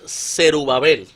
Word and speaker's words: Zerubabel: El nombre Zorobabel viene del original Zerubabel. Ok. Ese es como se pronuncia originalmente, que significa brote o vástago de Babilonia.